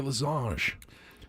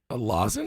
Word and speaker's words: lozenge: I said, "You mean a lozenge?" A lozenge. He goes, "That's how it's pronounced." I go, Yeah. "Yeah, it's not French. It's not French. It's not a losange."